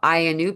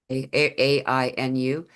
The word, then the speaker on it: Ainu: In fact, it actually brought in the Ainu people is how they pronounce it, but we've the Anu, like it's spelled like the Anu that was a big conversation point with the addition of an I after the A.